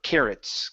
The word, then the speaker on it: carrots: the word carrots uh here at the very beginning you're saying cows instead of cow care carrots okay one more time